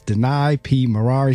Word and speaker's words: Maraire: She said, it sounds like the word deny in a car, Ferrari. So it makes it real easy for remember. It's Danai P. Maraire.